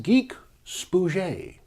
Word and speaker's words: GeekSpooge: Should anyone ask, the show is pronounced Geek Spooge.